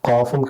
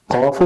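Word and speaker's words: قاف: അതിന്റെ ഉച്ചാരണം തന്നെ ഒരു ഉയർന്ന ശബ്ദമാണ്.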